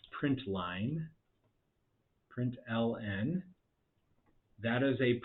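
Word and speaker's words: println: system.out do print Ln which I pronounce print Line Print Ln that is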